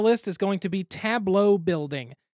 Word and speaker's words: tableau: next on the list is going to be tableau building tableau is not a word i was ever used to hearing until board games and i didn't realize how to pronounce it for a while it was tableau but tableau essentially you're putting things in front